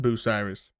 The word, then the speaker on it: Bucyrus: It's technically pronounced Bucyrus. Like Although Boo.